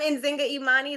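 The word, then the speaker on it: Nzinga Imani: I'm Enzinga Emani.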